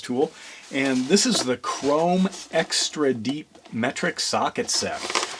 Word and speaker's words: CROM: Notice I'm pronouncing it chrome now instead of Crom. before I was it was like CROM is what was in my mind you know like readonly